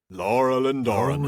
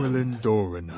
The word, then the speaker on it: Laurelin Doranan: I was going to say that's actually the easy way to remember how to pronounce it, is just to say it like Treebeard. Laurelin Doranan. Laurelin Doranan. Laurelin Doranan.